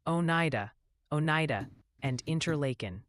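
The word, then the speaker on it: Oneida: watching the New York action gently suggest it's pronounced Onida, Onida, and Interlaken.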